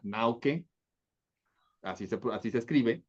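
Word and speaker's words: Naucke: otro wolfang que es dependiendo de la pronunciación alemana nauke así se así se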